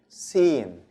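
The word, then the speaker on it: س: Sin. Sin is very easy. It's like the S in English.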